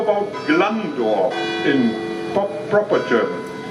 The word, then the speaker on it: Glandorf: is not german so the g in low german is like in the dutch language pronounced like a ch and now we practice